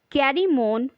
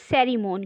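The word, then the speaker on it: Cerimon: तो ये जो कैरीमोन जो कैरेक्टर है, जो प्रोनाउंसिएशन होगा इसका दैट इज सेरीमोन, क्योंकि सी के बाद यदि हमारा ई या वाई आ जाता है तो ये सी हमारा सै का जो प्रोनाउंस करता है ना।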